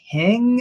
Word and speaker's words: Hing: last name is it hang I don't know pronounce your last name yeah Hing rhymes with King but just with an H all right so Zach